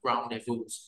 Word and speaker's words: rendezvous: Rendezvous, rendezvous, rendezvous, rendezvous ha, trong tiếng Pháp mà en nó là đọc là rendezvous rendezvous rendezvous rendezvous.